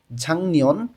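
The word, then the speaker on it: 작년: আছে ঝাংনিয়ন গত বছর গিউক বাচ্চিমের পরে যখন নিউন আসে তখন এই গ টা অনেস্বরের মতন উচ্চারণ হয় তাহলে এখানে উচ্চারণটা হয়ে যাবে ঝাংনিয়ন গত বছর তার নিচে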